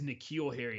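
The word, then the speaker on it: N'Keal Harry: how they say his name his name is nikhil harry i know it sounds weird so if you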